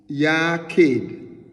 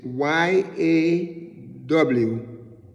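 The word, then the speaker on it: יחיד: So this Hebrew word here is Yaqid. It's like in English it's spelled Yachid, but in the phonetics it is YAWKHEED. So we pronounce it Yaqid, and it's made up of the Hebrew word, right?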